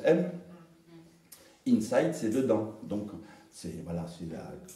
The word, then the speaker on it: AIM: C'est AIM, ça se prononce M.